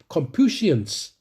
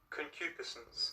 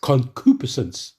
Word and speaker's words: concupiscence: in the scriptures too you know I can't pronounce it confuse compusions right Confucius you know what I'm saying yes let me say it concupiscence concupiscence hey right concupiscence concupiscence right I couldn't say